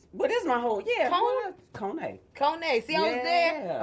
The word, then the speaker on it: Kone: Kone. Kone. See, I was there. I wasn't sure. That's She's so fancy. Kone. That's not my words. That's the West Africans. That's how they want it pronounced.